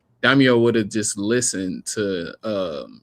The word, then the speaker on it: Daimyo: At this point, if the Daimo, I keep on saying his name wrong. Daimyo would have just listened to Shikamaru, then the outcome would have been totally different.